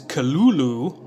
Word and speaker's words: Cthulhu: Lovecraft transcribed the pronunciation of Cthulhu as Cthulhu, and said that the first syllable pronounced gutturally and very thickly. The U is about like that in full.